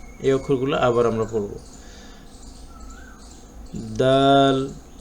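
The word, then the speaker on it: د: দাল দাল, এইটা বাংলায় যে আমরা দ উচ্চারণ করি, এই দয়ের সাথে কিছুটা মিল আছে।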